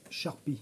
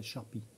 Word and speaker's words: Xarpi: Alors ça s'appelle Sharpy, ça s'écrit Xarpi, mais ça s'appelle Sharpy, ça se prononce comme ça.